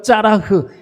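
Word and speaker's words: צלח: 없습니다 우리말 하다라는 말의 히브리어 짜라 이렇게 발음을 하는데 여러분이 짜라이 말은 돌진하다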